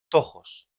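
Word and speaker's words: πτωχός: Vamos a ir a la palabra en griego que abres ahí, ahora en pantalla, que se pronuncia tojos.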